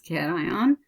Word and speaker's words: cation: sur le chat là il dit cation il est prononcé cation c'est un ion avec